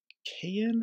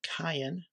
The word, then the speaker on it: Cayin: amplifier this one is made by cayenne or cayenne depending on how you like to pronounce it i like to pronounce it cayenne this is the a55